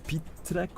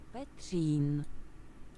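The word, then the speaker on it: Petřín: led to the astronomy tower, and it's called Pitrek or something. I'll find it, hold on. It was like Pitrek. Petrin! How do you pronounce that? Hold on. I don't want to butcher it. What? Petrin.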